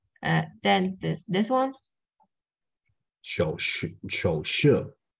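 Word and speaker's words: 手势: 热 and this one, the third tones is like 热热，对 then this one 手势，this is the third tone and the fourth tone together, right?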